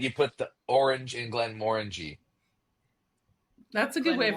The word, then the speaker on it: Glenmorangie: Glenmorangie. Glenmorangie.